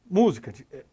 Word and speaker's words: música: Quando eu tenho a antepenúltima sílaba acentuada, então como a palavra música, né? Então, ó, música, eu sempre tenho que pensar de trás para frente, então vamos pensar assim, né?